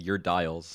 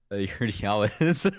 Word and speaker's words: Urdiales: I feel so bad when I was picking up this call where I was saying Urdiales, and it's Urdiales. I get it how it's spelled.